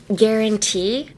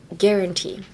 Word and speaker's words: guarantee: at the gu but it's actually get like g e pretend like it's a g e or like n you